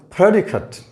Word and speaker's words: predicate: part of the world this is predicate predicate this a here again represents the schwa sound ah cut not kate predicted the stress is on the first syllable but when this very